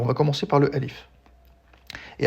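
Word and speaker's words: ألف: Mais lorsqu'on prononce un mot de manière isolée, on peut choisir de ne pas prononcer la voyelle finale. Donc ici, on dira alif.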